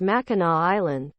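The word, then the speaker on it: Mackinac: huge tourist destination is MAA Island but the last C is pronounced as a w Sue St Marie is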